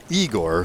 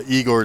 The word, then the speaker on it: Igor: he meets his his primary uh lab assistant eigor who uh on learning that he does not